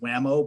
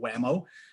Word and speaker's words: WMAO: The acronym, of course, WMAO, is affectionately pronounced WAMO by those who are in the know, so WAMO.